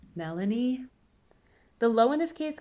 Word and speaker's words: Melanie: Once again, the first name has stress on the first syllable, but the high comes at the end. Melanie.